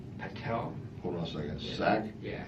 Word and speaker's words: Sack: Sack? Yeah. S-A-C-K, right? Yeah, just like it sounds.